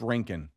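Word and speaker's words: Rincon: It's It's Rink.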